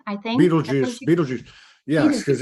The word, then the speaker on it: Betelgeuse: star that's really difficult for me to to pronounce Betelgeuse I think Beetlejuice Beetlejuice yes because it's because it's right there